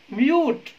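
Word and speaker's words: mute: म्यूट, म्यूट यानी कि silent कर देना आवाज को, उसको बोलते हैं म्यूट।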